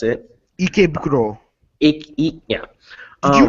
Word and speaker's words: Ikebukuro: The Headless Horseman lives in Ekenborough, however you pronounce it. Ikebukuro.